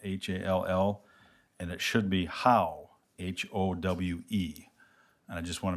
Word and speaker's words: Howe: of the appointments, there's an individual's name that is spelled incorrectly. It is on your backup as Hall, Hall, and it should be Howe, Howe.